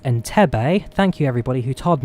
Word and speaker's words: Entebbe: jomo kenyatta to entebbe it's pronounced enter bay thank you everybody who